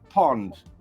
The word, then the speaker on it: pond: a British pound a pound in Dutch is pronounced Pond a pond has fish fish have fins fins